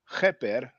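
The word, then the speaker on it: Kheper: The dung beetle is the biliteral, I'm sorry, the triliteral Keper. Most people pronounce it keper because the h is not easy to pronounce. It's just like the Spanish jota.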